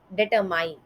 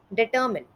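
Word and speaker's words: determine: इसका गलत उच्चारण कुछ इस तरीके से सुनाई देता है, डिटरमाइन, डिटरमाइन। बट इसका सही उच्चारण कुछ इस तरीके से है, डिटर्मिन, डिटर्मिन।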